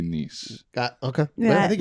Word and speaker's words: Nice: specific accent there yes in here you spell it nice but in France we say nice okay I think it's